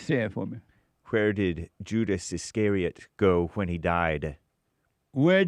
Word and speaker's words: Iscariot: Iscariot.